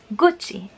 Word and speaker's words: Gucci: but in this case since we have the vowel I after the letter C then it will have a sounds of CH this is the reason why we pronounce it Gucci same thing that goes